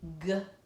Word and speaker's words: grind: G-eind. G-eind. We have a blend, G-R, and then it's a closed syllable exception. The vowel says its own name. It is not short like all the other closed syllables.